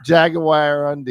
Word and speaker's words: jaguarundi: Yeah, like a jaguar in your undie. Oh, there it is right there. Jaguar undie.